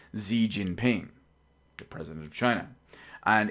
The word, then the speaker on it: Xi Jinping: the president of China, who I believe is pronounced Xi Jinping, the president of China.